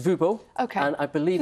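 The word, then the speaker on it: Wubbo: And and I'm guessing that Wubo is maybe is that it's actually Dutch. It's pronounced Vubo.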